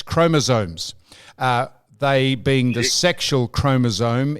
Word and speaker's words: chromosome: It's chromosome, S-O-M-E, not Z-O-M-E. You call it chromosome.